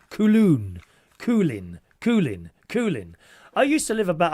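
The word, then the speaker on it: Köln: Sean says, Cologne is pronounced close to Coulon.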